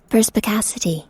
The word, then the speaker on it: perspicacity: worth a look up perspicacity is that how you pronounce it perspicacity yeah it is what does that mean